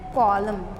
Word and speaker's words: column: So I said column. So what you have to, which one I have not said? This N letter I did not say.